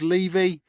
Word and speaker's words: Levy: Our very own James Levy, pronounced as in took the Chevy to the levee, always beyond knowledgeable and a very welcome bonus or exclusive.